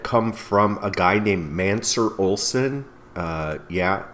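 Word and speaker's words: Mancur Olson: from a guy named mansur olsen yeah it doesn't look like it's spelled that way but it is mansur olson he was a political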